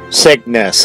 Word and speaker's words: Cygnus: capital we will make operation Cygnus a success Cygnus okay that's how you pronounce it I forgot how you pronounce it